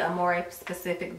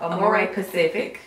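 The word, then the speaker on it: Amorepacific: And I also got a few products from the Amore specific brand. Pacific brand. I keep saying it wrong. Amore Pacific.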